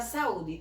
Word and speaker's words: saúde: A mesma coisa vai aparecer na palavra saúde. Eu digo saúde. Então, o U aqui também ficou sozinho numa mesma sílaba.